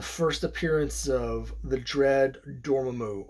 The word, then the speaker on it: Dormammu: the first appearance of the dread dormammu or dormammu like they say in the movies but I'm not going to say it like that so the first appearance